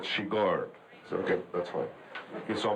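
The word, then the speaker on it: Chigurh: anything I just asking what was the right pronunciation of the my characters thing which is quite weird he says he said sheor okay that's fine he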